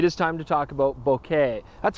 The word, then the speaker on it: bokeh: misconceptions some people say Boca Boca or bouquet or boki I mean all these different cases and the commonly held belief is that it's a Japanese term bouquet to refer to